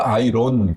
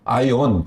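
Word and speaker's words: iron: 그러니까 R이 묵음인데 그걸 넣어놓는다고 이놈의 새끼들 쓸데없는데 아니 발음도 안 되는 걸 왜 넣어놓냔 말이야. 그러니까 예형이 틀린 건 당연한 거예요. 잘한 거예요. IOM 발음 나는 대로 잘 한 거란 말이에요. 근데 R이 있어, R. 그래서 아이론. 그래야 되는데, 아이온. 그런단 말이에요.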